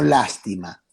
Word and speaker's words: lástima: La lástima, con acento en la primera A, lastima, sin acento.